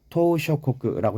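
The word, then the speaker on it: 島嶼国: 경험을 했던 태평양 토쇼코끝 여기에서 발음을 할 때 토우가 이게 토는 섬 심화 토우는 장음이에요 그래서 토우 토우 쇼코크라고 해야 되는데 토시오코쿠이 한국어하고 약간 간섭 현상이 일어나서 그렇게 발음을 할 수도 있는데 주의하셔야 됩니다 더 오셨고 그래요 자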